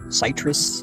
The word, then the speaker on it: Citrus: My name is Citrus. Citrus. That's how you pronounce it.